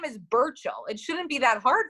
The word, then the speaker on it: Burchill: me so nervous be he are line2 you spell it again the BER who's that Alex thank you okay my name is Burchell it shouldn't be that hard from like so